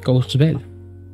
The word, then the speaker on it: Courchevel: Courchevel, se pronuncia Courchevel.